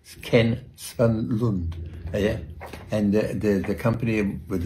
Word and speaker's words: Svanlund: I'll pronounce it right, Ken Svanlund.